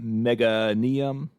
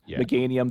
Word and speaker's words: Meganium: Um, we you you're playing, I assume, in the deck you played too, the megaium, that's I'm sure that's not pronounced right. Meanium. Meganium.